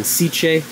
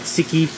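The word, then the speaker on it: SICCE: kicking and then a lot of those again siche Italian company s i CCE but it's pronounced c not siki sich like silio like my familia where they're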